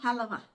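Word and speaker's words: حلوى: अरबी में इसी की प्रोनाउंसिएशन जो है वो है हलवा। हलवा जरा हे से बोलते हैं ना, तो वो प्रोनाउंसिएशन डिफरेंट है, मकसद एक ही है, मीठा, स्वीट, खूबसूरत।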